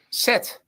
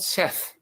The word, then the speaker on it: Set: Set. Set. Thank you. Say it. Yeah. It's not Seth because I Good dog.